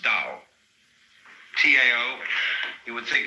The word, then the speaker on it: Dao: decide how it's pronounced we should have spelled it D you see but it's